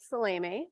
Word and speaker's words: Salame: My name is Salame, that's how you pronounce it, and I'm a parent to 3 children, 2 of whom attend Anana Elementary and MMSD.